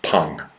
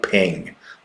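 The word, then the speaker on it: peng: It's pronounced pung, not ping, but pung.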